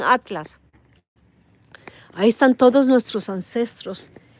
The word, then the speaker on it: ATLAS: Pues en ese platillo volador, en el 3i Atilas, porque lo escriben Atilas, pero lo pronuncian Atlas.